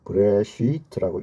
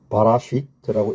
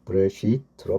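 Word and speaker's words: בראשית: 이 모음 부호가 생김으로 해서 이 글자는 브레시트라고 읽으라고 이 발음이 고정되어 갑니다. 만약에 모음 부호가 없었다면 바라시트라고 읽을 수도 있고 베레시트로 읽을 수도 있고 지방에 따라서 발음이 달라질 수 있거든요. 그런데 이렇게 모음을 찍으면 이것은 다르게 발음하지 않고 브레시트로 발음하게 됩니다.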